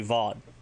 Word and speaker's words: vod: If you want to say comrade or brother sister, just simply VOD, V-O-D.